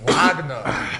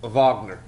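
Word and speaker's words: Wagner: thing what happens if ragna upset oh it's pronounced Vagner Vagner yeah I tried to make it sound German work all right I'm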